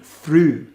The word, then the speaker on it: through: Then we have the same spelling in through. And that cluster is now pronounced as U.